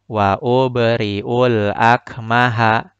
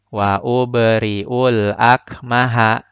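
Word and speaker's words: وأبرئ الأكمه: Maka bacanya huruf ba-nya harus dipantulkan dengan skala kecil atau sughra. Wa ubri'ul akmaha. Wa ubri'ul akmaha. Pantulannya kecil karena tertimpa atau tertutupi dengan bacaan setelahnya. Maka pantulannya menjadi kecil.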